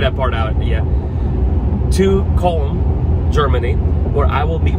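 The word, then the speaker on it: Köln: pronouncing this correctly it spelled like cologne but i think it's pronounced colon comb germany and so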